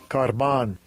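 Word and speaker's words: κορβᾶν: This is how they pronounce it. Strong's G 2878. Karban.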